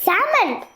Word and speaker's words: salmon: Dad, it's salmon. L is silent.